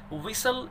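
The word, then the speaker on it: whistle: कोमलता के साथ, सॉफ्ट विसल, एच साइलेंट होता है, सीटी की आवाज निकालती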